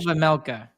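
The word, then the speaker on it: Vejmelka: Veg Karel Vamelka. Vamelka. There you The go, The Vamelka. J is silent.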